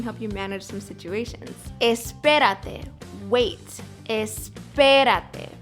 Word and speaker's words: espérate: Espérate. Wait. Espérate. Stress the P, the second syllable.